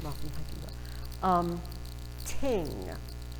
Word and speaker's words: thing: They pronounce it ting instead of thing. I read half of Rolf and the Viking Bow saying thing. And then I looked in the glossary in the back, pronounced ting.